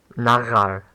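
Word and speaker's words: נַעַר: So, nagar, nagar means, I don't know why I was putting stress on the final syllable when saying it the first 3 times starting with. Nagar means, it means a young man.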